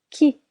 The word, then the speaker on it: qui: How to question the first quoi which means what quoi qui who in French we do not pronounce the letter you qui pourquoi pourquoi Quoi ?